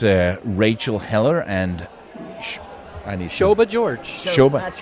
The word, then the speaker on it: Shobha: Shobha. That's right. Shobha. It's easy. It's just the way it's spelled, Palle. Shobha. With the silent H.